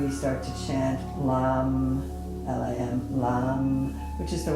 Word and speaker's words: Lam: It's the energy that clears it, that wakes up that chakra, and then we start to chant Lam, L-A-M, Lam, which is the one-syllable Sanskrit mantra that goes with that chakra.